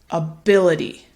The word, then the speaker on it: ability: interesting word because actually the first syllable instead of a ability it gets reduced to something called awah and awwa is that relaxed Central mid vowel and it sounds more like a so instead of ability